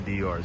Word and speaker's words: Dior: Apparently Mbappé, all he wears is Dior, Dior, Dior. So right across the street right there, we have Dior. The proper way to say it is Dior.